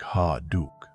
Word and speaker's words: Ha Duc: His name is Ha Duke. You can say it like Ha Duke.